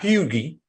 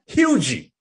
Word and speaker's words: Hugee: from edward waters is deshawn hugee not fugi not huggy hugey is how you pronounce his name he's a senior for